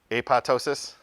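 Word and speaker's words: apoptosis: this word right here apotosis you don't pronounce the second p it's a pi and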